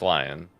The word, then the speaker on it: Leon: in Resident Evil Leon it's French Leon Kennedy I don't care that he's lie on it he's not French in game it's lion lion that's that's how you that's how you pronounce his name that's what they do